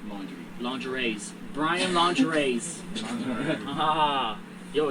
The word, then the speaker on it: Laundrie: How you say it? Brian Laundrie. Laundry? Like laundry.